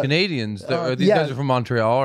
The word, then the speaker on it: Montreal: Is it pronounced, we say Montreal, but I hear you guys say Montreal. Montreal. I almost hear you say Montreal.